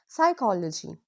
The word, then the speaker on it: psychology: If a word starts with PS or PN, don't pronounce P. So we say psychology, not psychology. Pneumonia, not pneumonia. Ignore the P.